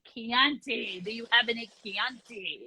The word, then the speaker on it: Chianti: and be like Chianti do you have any Chianti it's it's pronounced Chianti do you have any Chianti Alyssa